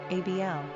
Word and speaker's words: Abel: Pronunciation, ABL.